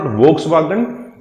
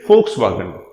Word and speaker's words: Volkswagen: pronounced as F in Volkswagen because it's a German company, and in Germany the letter V has a pronunciation as same as that of letter F. So it is not Volkswagen, it is Volkswagen.